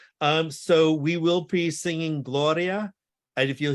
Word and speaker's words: Gloria: So we will be singing Gloria. And if you hear that R, it's got one flip, Gloria, Gloria.